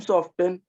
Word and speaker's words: soften: Ma'am, soften. Soften, T is silent.